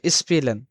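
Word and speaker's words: spielen: দেওয়া হচ্ছে স্পিলেন স্পিলেন মানে আপনারা দেখবেন এখানে যে এস প্লাস পে যখন থাকবে তখন তখন কিন্তু আমাদের শব্দটা নিয়ে আসতে হবে কি সপ তালবে সপ বা সপের মত নিয়ে আসতে হবে যেমন স্পিলেন স্প্রাকেন তার যে শব্দগুলো আছে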